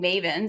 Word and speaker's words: Maven: team and so making mavens is a nod to making mustangers but Maven to us rhymes with Haven it's our name and